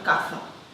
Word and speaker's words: casa: no tendría que utilizarlo, para hacer alusión a palabras como casa, para decir house, pues dirían caza.